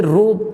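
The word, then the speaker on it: ρ: ये रेजिस्टिविटी वाला ये साइन है, इसे रो कहा जाता है, ऐसे रो प्रोनाउंस किया जाएगा, जो कि एक कांस्टेंट वैल्यू है।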